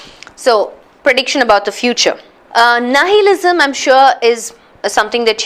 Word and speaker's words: nihilism: I li assume right but it's pronounced as nihilism nihilism so let's break it